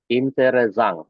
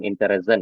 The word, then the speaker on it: interessant: Nah, ini karena pengucapannya mirip dengan bahasa Prancis ya teman-teman ya. Jadi ada beberapa kata yang di bahasa Jerman ini pun yang diserap dari bahasa Prancis mungkin ya. Jadi bacanya di sini jangan interessant ya, tapi interessant, Herkunft, von Ort.